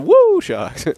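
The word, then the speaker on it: WuShock: State Woo Woo shock wo shocks woo the woo shocks yeah that's how it's pronounced that's great but as you see there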